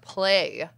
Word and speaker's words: plait: do and then um it's because it's French it's pronounced play I'm just telling you